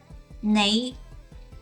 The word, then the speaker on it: 你: 你, a little bit of and sound.